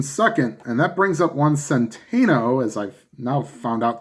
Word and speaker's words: Juan Centeno: So the Twins have runners on first and second, and that brings up Juan Centeno, as I've now found out the correct pronunciation.